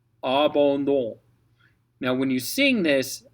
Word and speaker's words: abandon: ON is basically the same thing, but instead of saying ah, you're going to say oh, oh, oh, mm. So the very first word in this actually uses both. And what's nice is the D helps get you into the O vowel.